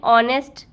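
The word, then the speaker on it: honest: एन ऑनेस्ट person. ऑनेस्ट में भी H silent है।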